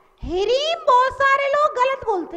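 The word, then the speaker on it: ह्रीं: विनोद जी बोलो, रीम रीम बोलते हैं सब लोग। रीम नहीं बोलना है, हिरीम रीम, हरी हिरी हिरी हिरी जीभ लौटने लगेगी।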